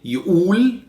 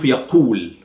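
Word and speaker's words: يقول: I said before that we pronounce the qaf as hamza sometimes. So we say yu'ul instead of yaqul.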